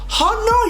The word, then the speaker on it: honor: has always been like, honor your father and your mother. Bro, the H in honor is not supposed to be pronounced.